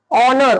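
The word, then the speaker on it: honour: वापरायचं अन ऑनेस्ट आता बघा पुढं अन ऑनर ऑनर ओ पासून सुरुवात झाली म्हणून अन ऑनर त्याच्यानंतर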